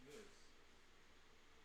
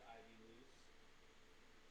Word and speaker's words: Ivoose: Spelled Ivoose, but it's pronounced moose. Some people have said Ivy loose. Some people have said Ivy loose. It's moose.